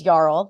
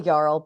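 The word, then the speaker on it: jarl: her to the Region's yarl which I hope is how you say that j a r l yl yl it's a yl okay good that's how I've been saying it in my head so thank God uh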